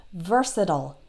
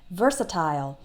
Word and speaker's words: versatile: lot of different skills versatile is spelled ve RS i TI le so it ends with IL e but American English speakers will tend to pronounce it like I just did versatile that last part sounds like ol versatile but British English speakers might tend to pronounce it like versatile so that last part the IL e they will pronounce like l'll versatile both ways are correct